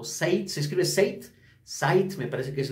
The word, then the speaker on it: Zeit: de hoy un sencillo llamado Sight, o Sight, se escribe Sight, Sight, me parece que es la pronunciación, que